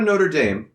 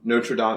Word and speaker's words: Notre Dame: the school, football school, Notre Dame, is that really how it's pronounced? No, not in South Bend. I didn't think so. In South Bend, it's Notre Dame. Notre Dame. You go to Notre Dame.